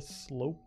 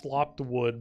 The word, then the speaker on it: sloped: the flashing clean the sloped wood I almost pronounce it as slopped wood but I'm like there's no way it's it's slopped wood even though to me it looks way more like slopped wood sloped it's not really